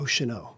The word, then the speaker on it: Oceano: Oceano.